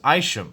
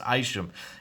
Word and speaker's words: Isham: guy that designed this knife his name is pronounced Isham I asked him myself it is pronounced Isum and so I'm gonna have to correct myself